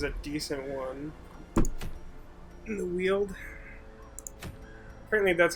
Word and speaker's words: Weald: warriors cap is a decent one in the Weald apparently that's how you pronounce that word by the way wield really yeah the only reason I know is